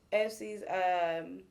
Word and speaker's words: ESPYs: Apparently, Lyrica has got booked a pre ESPYs. Is that how you say it? Yeah, pre-ESPYs. ESPYs.